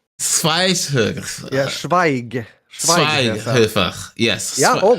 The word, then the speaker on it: Schweighöfer: Aha, Matthias Schweighöfer. Schweighöfer.